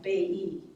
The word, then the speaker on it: Bailly: and henry's mother was sophie bailly b-a-i-l-l-y pronounced like bay e um and there was